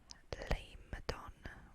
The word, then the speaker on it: Lamedon: Next, we have Leimdon, which is very badly marked right here. No offense, Christopher Tolkien. It's spelled Lamedon, which is another fiefdom of Gondor that is more densely populated than Anfalas.